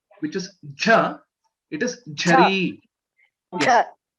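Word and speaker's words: ज: please note, ja is very plain. Janaki, Jananam, the Third ja. Jakara. Third, yes, the third letter, ja. Okay, you don't Ja. have to stress too much. Okay, it is just Okay. simple. Okay. Ja. There is no stress or more energy. It is very simple, straightforward.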